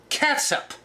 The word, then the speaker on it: catsup: one tablespoon of catsup it's spelled c-a-t-s-u-p ketchup half a pound of ground